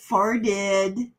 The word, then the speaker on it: farted: comes to that word, I don't think I pronounce the T in fart. For the farted. I farted. Yeah, my entire life of over 60 years have made the T in farted a D.